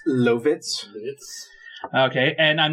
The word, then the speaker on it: Lovitz: John Lovitz, actor and comedian. It's Lovitz. Okay, and I'm not sure how to pronounce this entirely, but Tree Trang?